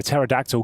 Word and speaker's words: pterodactyl: can't you hear a pterodactyl going to the bathroom because the p is silent because the p is